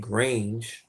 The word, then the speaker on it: Graange: his music label whose name is Elliot Graange, right? Rhymes with Strange.